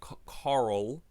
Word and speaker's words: Carl: Like I feel like the right way to say Carl is like that. It's like Carl. It's like a curl.